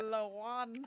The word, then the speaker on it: Lawan: You think it's spelled like a Mexican? Like I think so. L.A. Juan? Juan, yeah. W. Yeah, LA. Is it Lawan? Yeah, I Yeah. believe. Say it, Ada. Lawan.